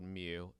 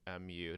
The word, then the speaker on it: mu: mu and then for ya this is called mu mu that's how we pronounce it and then your standard deviation SD